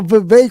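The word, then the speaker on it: Vivek: we're pretty sure how how Viv rhymes with cake ramaswami ramaswami will respond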